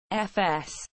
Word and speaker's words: Voß: Johan Hinrich Vos German Johan Hinrich Vos pronounced FS the 20th of February 1751 to 29 March